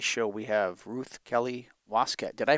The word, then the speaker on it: Waskett: On today's show, we have Ruth Kelly Waskett. Did I pronounce that correctly? Waskett?